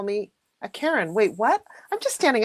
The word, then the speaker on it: Karen: Even though I pronounce my name differently, as everybody knows, Karen, not Karen.